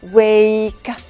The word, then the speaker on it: wake: To make, هون silent e والفاول يلي قبلها شو بيصير فيها بلفظ الصوت الطويل a wake.